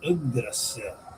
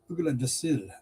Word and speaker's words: Yggdrasil: We're going to speak about Yggdrasil in this video. Some people mispronounce that as Yggdrasil, but it is Yggdrasil, and I'll explain why.